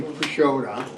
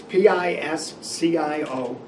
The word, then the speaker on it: Pisciotta: Number 7, Dave Perkins, and you see Pashoda. Yeah, what is that? It's Pisciotta. I know it's not spelled like we pronounce it, I but went online trying to find it.